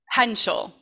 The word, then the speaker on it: Hentschel: Hentschel.